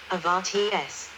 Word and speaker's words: Oberharz: The Upper Harz, German, Oberharz, pronounced Avarts, refers to the northwestern and higher part of Harz mountain range in Germany.